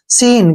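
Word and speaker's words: scene: हम नहीं करते हैं सीन क्या पढ़ेंगे इसको सीन ठीक है ना स्कीन नहीं पढ़ना है आपने सीन पढ़ सी को छोड़ देना है सीन क्या पढ़ेंगे इसको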